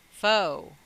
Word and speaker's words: faux: what the name kristov really means foe f-a-u-x christ fake christ right so if you just take the of off the end put in the front and flip it you have fo christ so phonetically foe christ speaking on truman kristoff